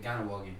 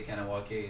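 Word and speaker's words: Kahnawake: Ganawagi, because the K in Okay. Mohawk is pronounced G.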